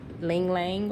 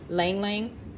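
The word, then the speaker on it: ylang-ylang: going to use this i think it's pronounced like ling lang or lang lang and so that just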